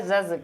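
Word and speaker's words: judge: और जैसे जज जी से पहले जब भी कभी तुम डी देखोगे इसको प्रोनाउंसिएशन नहीं करोगे, बेशक लिखना जरूरी है, ठीक है, लेकिन पढ़ना जरूरी नहीं है।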